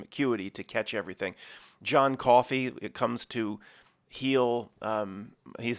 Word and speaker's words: Coffey: John Coffey, ma'am. Like the drink, just not spelled the same, ma'am.